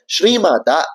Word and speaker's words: ஸ்ரீமாதா: நாமமுமான முதல் நாமாவாக இருக்கக்கூடிய ஸ்ரீமாதா அப்படிங்கிற நாமத்தைதான் பார்க்க போறோம். இந்த ஸ்ரீ மாதா அப்படிங்கிற நாமத்தை எப்படி உச்சரிக்கணும் அப்படின்னா ஸ்ரீ மா தா அப்படின்னு தான் சொல்லணும். இந்த தா அப்படிங்கறது முதல் தா அப்படிங்கறதுனால அதை அழுத்தி சொல்ல வேண்டாம்.